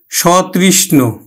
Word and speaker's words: সতৃষ্ণ: যেমন দেখো, সহিত অর্থে সতৃষ্ণ, সতৃষ্ণ, সতৃষ্ণ, এই যে সটার উচ্চারণ স এর মতোই হবে, ওকার আর হবে না। যেমন সতৃষ্ণ, সতৃষ্ণ, সতৃষ্ণ।